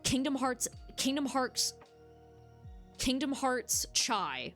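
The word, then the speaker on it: χ: So it's like Kingdom Hearts Kingdom Hearts Kingdom Hearts Chai like the Greek letter chai. And I am going to call it chai. In the series they pronounce it as key but to avoid um confusion I'm going to call it chai.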